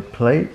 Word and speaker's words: plate: No, last you to your plate. What is it supposed to say? No, it's supposed to say last you wash your dishes. Your plate. Plate has an E at the end. The E is silent.